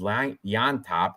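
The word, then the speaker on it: Llontop: because I don't James L yop and the L is silent the L's pronounced as a y it's annoying you know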